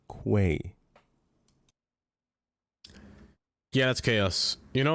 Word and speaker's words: Quay: pronounced I'm Quay. looking. Interesting sounds come back. Say it with me now. Pizza. With a Q. Let me see Quay. this. Quay. Quay, Not not key.